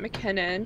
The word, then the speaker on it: MacKinnon: call you McKinnon or McKinney or what I'm sure people mess that up all the time yes so they do I pronounce it McKinnon he could like just kind of like a silent a um but it is